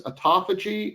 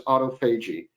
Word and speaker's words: autophagy: uh the word here there's there's two ways to pronounce this one is autophagy and one is autophagy I'm I'm going to pronounce it autophagy just uh so you know those are the two pronunciations I'm talking about stimulating